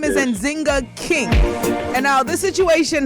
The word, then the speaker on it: Nzinga: jingle king all right so her name is anzinga king and now this situation happened uh last